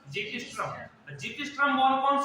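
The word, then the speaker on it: xiphisternum: X का कई मतलब हो सकते हैं, कई सब साइलेंट होते हैं, इसको क्या बोलेंगे अपन? जीपीस्ट्रम।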